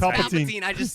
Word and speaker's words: Palpatine: And the no, I'm not sure how to pronounce it. Palpatine. It's Palpatine.